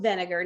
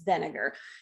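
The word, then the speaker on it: Wegener: where this guy alfred vinegar now this dude is german or austrian i can't remember but in this case that w gets pronounced like a v so it's vinegar so alfred vinegar he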